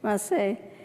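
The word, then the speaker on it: Masei: Okay, Maseh.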